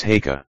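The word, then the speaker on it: Haigha: His name is Haka." He pronounced it so as to rhyme with mayor.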